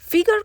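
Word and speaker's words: figure: ফিগার কথাটার ফরাসি উচ্চারণ ফিগুর, অর্থ মুখের চেহারা।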